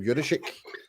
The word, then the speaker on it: Juszczyk: fullback looked like, and that's what's his name, Juricic? How do you pronounce his name? Juszczyk.